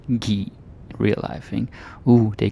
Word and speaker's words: give: to give but again this is usually pronounced ghee real life thing oh